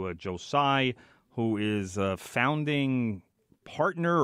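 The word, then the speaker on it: Joe Tsai: how do you say his name Joe Joe Joe sigh as far as I know why I do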